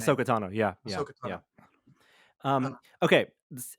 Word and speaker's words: Ahsoka Tano: I don't know how you pronounce her name. Ahsoka Tano, yeah.